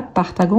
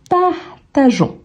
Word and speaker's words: partageons: prononce pas partagon donc on va garder le E mais on ne le prononce pas l'objectif ici c'est qu'on ne dise pas partagon mais plutôt partageons donc ça arrive avec